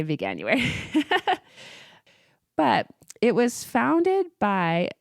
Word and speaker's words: Veganuary: a lot of people didn't know how to pronounce it, but it's not that hard. You could say Veganuary.